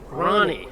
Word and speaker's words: Rahne: But their coach, Rahne, did we pronounce that right? Coach Rahne? Coach Rahne. Yeah. Rahne, that's right.